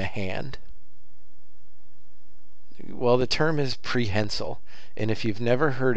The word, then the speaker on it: prehensile: And the definition of prehensile is, I use it like a hand.